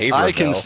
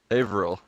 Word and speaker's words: Haverhill: are from the same town in Massachusetts called Haverhill, but who couldn't say it one night in our party? Could have been you, Crazy. You kept calling it Haverville.